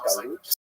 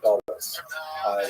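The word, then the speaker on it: גלות: In Hebrew, it was galut, or in a Ashkenazi pronunciation, Galus, that Jews were thrown out of their land.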